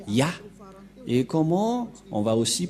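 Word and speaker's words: יה: Ça se prononce Yah.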